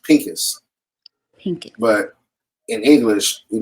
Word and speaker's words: Phinehas: right what's crazy in in the Hebrew it's actually pronounced Pinkus pink but in English